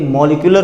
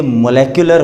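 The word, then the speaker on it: molecular: पहले आपने उसका एक मॉलिक्यूलर फॉर्मूला बनाना है। वैसे ये मोलेक्युलर होता है एक्चुअली, इसको मॉलिक्यूलर कहते हैं क्योंकि सब लोगों की प्रोनाउंसिएशन ऑलमोस्ट ऐसे ही स्टूडेंट्स की समझने वाली है।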